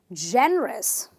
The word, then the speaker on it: generous: syllable number one let's look at the word again Jen the rest three syllables right so he will say generous you can't say generous that's wrong you are a generous